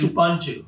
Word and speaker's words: Ubuntu: I will say class lib if you can pronounce Ubuntu correctly. Ubuntu. Okay. David says Ubuntu.